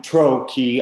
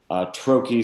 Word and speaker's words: trochee: like the word means trochee more stress on TRO than key right I I'm sorry I am trochee I am trochee I am right so trokey stress comes first I am stress comes second the other exception is